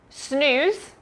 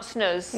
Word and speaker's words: Snooze: you may have heard snooze sn you said it's not snozz yeah it's snooze um that's just something